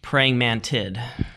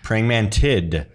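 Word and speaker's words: praying mantids: talking about praying mantis what's how do you pronounce the plural form of praying mantis praying mantid praying mantid I heard you say there's a Carolina Mantid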